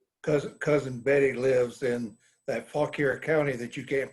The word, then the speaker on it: Fauquier: Cousin Betty lives in that Fauquier County that you can't pronounce. Oh. So she's right there in the middle of them. How do you say that? Fauquier. Fauquier? Fauquier.